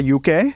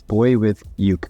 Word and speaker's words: BoyWithUke: You pronounced my name correctly? I didn't say Uke, No, even though it was tempting. it's Boy with Uke.